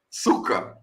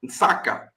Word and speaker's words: Nsaka: So the way that they say hut in their language is Suka, because the N is silent. The N is silent, so they say Suka or Nsaka.